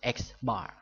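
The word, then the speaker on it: X̄: X is pronounced X bar.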